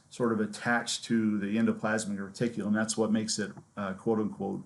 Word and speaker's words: endoplasmic reticulum: big long word set of words endoplasmic reticulum endoplasmic reticulum is how you pronounce this it's also known as ER which